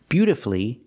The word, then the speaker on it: beautifully: Well, if I look at masterfully, beautifully, and wonderfully, we have two syllables before the F-U-L-L-Y, but the stress is on the first syllable.